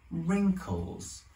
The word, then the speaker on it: wrinkles: iron out the wrinkles that's wrinkles with a silent w from this handkerchief that's